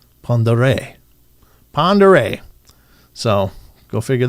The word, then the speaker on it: Pend Oreille: Uh it looks like Pend Oreille, but it's actually pronounced Pond Oreille.